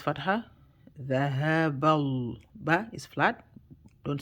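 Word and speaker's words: ذَهَبَ: Dhahaba, the ha is from the bottom part of the throat, so make it deep from bottom part of the throat. If you say it right, you feel it at your chest.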